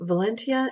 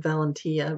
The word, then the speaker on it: Valentia: on watching ok guys so valenta is a company that and I believe that is how you pronounce it now because I've heard several several others pronouncing it that way and I was always